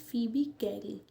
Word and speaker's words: Phoebe Cary: पोयम किसने लिखी है सो द पोएट इज फीबी कैरी spelling आप ध्यान रखना इसमें बच्चे बड़े कंफ्यूज होते